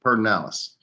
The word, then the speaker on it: Pedernales: It's spelled Pedernales, Pedernales, but in Texas you'd say that Pedernales.